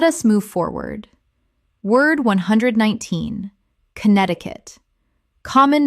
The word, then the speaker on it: Connecticut: Word 119 Connecticut Common mispronunciation Connect-ti-cut Correct pronunciation Connect-i-cut Four syllables, but the first C in Connect is silent in the full state name.